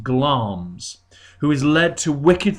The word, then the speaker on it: Glamis: It's written, you can see here it's written Glamis, but it's pronounced Glamis, who is led to wicked thoughts by the prophecy of the three witches.